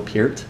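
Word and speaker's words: Peart: them is Neil Pier I learned how to to say his name properly because everyone got on to me when I did a rush video and said it per which is how I've always heard it my whole life so forget you guys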